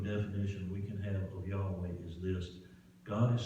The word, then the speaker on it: Yahweh: well in hebrew the words i am are pronounced yahweh and when we talk about yahweh it means